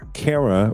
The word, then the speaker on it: Kara: To help us understand the ins and outs of this case, we have DaveLifeTV News legal contributor Kara Rhymes with Sarah.